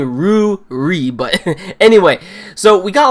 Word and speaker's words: Ruri: backstory with Rudy she every time I say her name and almost seems like I am saying Rudy but I'm saying Roo REE but anyway so we